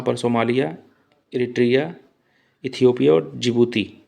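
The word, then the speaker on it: Djibouti: तो यहाँ पर सोमालिया, इरिट्रिया, इथियोपिया और जिबूती, जिबूती को डिजबूती भी कहते हैं, जो कि डी वहाँ पर साइलेंट होता है, देख लीजिएगा।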